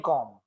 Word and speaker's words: calm: plus ing form, staying calm. In calm, C-A-L-M, there are many words in English like arm, calm, balm. In the arm mean sadqa, khairat, arm, A-L-M. L is silent. Calm, itmanan, silent.